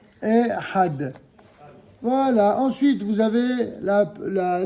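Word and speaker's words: אחד: Ensuite, vous avez le chiffre 1 qui se dit Ehad. Ehad. Voilà. Ensuite, vous avez la ligne numéro 5. Oh, faites attention. Pour la prononciation de ce mot, je vous invite à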